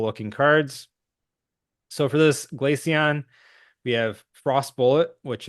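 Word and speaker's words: Glaceon: um I say glacon is that the correct pronunciation glacon yeah glacon yep okay I I was thinking it could be glasson but um yeah glacon is what my brain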